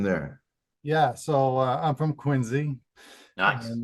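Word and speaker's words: Quincy: yeah so I'm from quinsey and that's with a z not a c and uh that's how you know you're from really from Massachusetts when you pronounce it that way um and uh yeah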